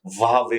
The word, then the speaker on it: Huawei: इसकी जो सही प्रोनाउंसिएशन है वावे होती है।